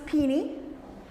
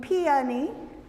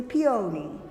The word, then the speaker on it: peony: I've heard it pronounced as pini and ponyi and facitiously peony. So of A, B and C which is it? Okay, it's equal parts A and B.